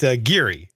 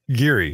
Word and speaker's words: Geary: care all right well I'll try to keep pronouncing it Geary Geary that's the way it's supposed to be hey